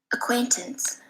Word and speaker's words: acquaintances: vowel and the stress symbol so let's listen acquaintances and that one was really clear I can